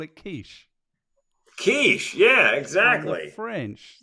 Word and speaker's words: quiche: You call it quiche. Quiche, yeah, exactly. French. So C-H-E in French is she, like that.